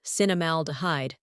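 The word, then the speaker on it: cinnamaldehyde: control blood sugar levels cinam alide pronounced cinnamal dhide is the chemical that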